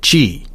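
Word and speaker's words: zhi: Part 1 is titled Position, Discharge, and Chi. That is spelled Z-H-I. It's a Chinese term that we're going to talk about here in just a moment.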